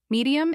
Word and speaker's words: medium: Medium is medium with stress on first syllable.